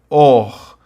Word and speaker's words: orgânico: Orgânico, plástico, né? E a sílaba tônica de orgânico e plástico é a antepenúltima.